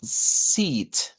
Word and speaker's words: seat: Entonces, las butacas, vamos a verlas estas como, como seat. Ese sería el sonido que vamos a buscar. Seat, con una I larga.